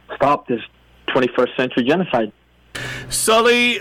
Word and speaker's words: Salih: Salih Hudayar, and if you want to Google search his name, he's with the East Turkestan National Awakening Movement.